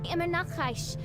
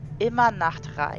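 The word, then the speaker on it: Immernachtreich: pictures round, she says she originates from, Immer nach Reich. is actually pronounced immer Nachtreich.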